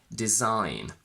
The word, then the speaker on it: design: GN in final position, where the G is silent again. Campaign, sign, design.